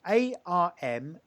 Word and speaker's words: Armenteira: Yeah, it sounds very Portuguese, doesn't it? But it's actually Gallego. So it's Armenteira.